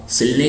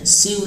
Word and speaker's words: sew: आप सिलने के लिए सौ भी कह सकते हैं। और SEW का उच्चारण सिव नहीं होता है, उसका उच्चारण सौ होता है।